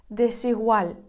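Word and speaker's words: Desigual: буквосполучень в цьому слові він іспанською вимовляється як десігуаль де сігуаль що означає іспанською неоднаковий той що відрізняється де сігуаль і вуаль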